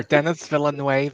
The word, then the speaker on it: Denis Villeneuve: Dennis, however you say it, Denis Villeneuve. Denis Villeneuve. Okay. Denis. I'll just call him Denis. Or Dennis Villeneuve. Dennis Villeneuve. Yes, I've heard people pronounce his name that way.